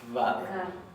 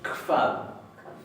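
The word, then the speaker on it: hvað: Recuerden que esta HB, especialmente en todas las pronombres interrogativos, se va a pronunciar como una leve KF. No se va a pronunciar vad. Se va a pronunciar kvad, pero más suave. Yo ahí lo exageré para que ustedes escuchen.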